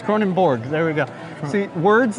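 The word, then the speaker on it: Kronenbourg: like the appropriate pronunciation something like Cronin Borg Cronin Borg Cronin yes it's Cronin Borg there we go see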